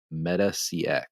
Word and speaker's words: MetaCX: at pendo and now you're the president at meta CX is that how you am i pronouncing that right that is correct okay correct